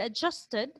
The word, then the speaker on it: adjusted: So you will pronounce that word as adjusted, not adjusted, adjusted, since the root word or the free morpheme ends with letter T. So if ever the word will end in letter T, or the word ends in letter T or letter D, alveolar, remember, alveolar sounds, so they will, or the ed will be pronounced as id.